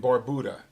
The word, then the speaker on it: Barbuda: it went over the island of Antigua and Barbuda okay that's actually the pronunciation of those two islands I've been down